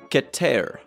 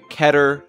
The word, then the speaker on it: Keter: true pronunciation is actually get ter that's because this is a real word taken from Hebrew it means highest or